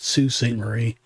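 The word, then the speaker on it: Sault Ste. Marie: And then Sue St. Marie, it's spelled Salt, but it's actually you pronounce it Sue St. Marie.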